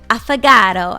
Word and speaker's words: affogato: I tried my very first cafe affogato, I believe is how you say it.